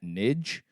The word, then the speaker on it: Nig: So I'm going to pronounce that Nidge, just because I don't want this to be conveyed, I guess, inappropriately in any way, because that's obviously not the point of this podcast.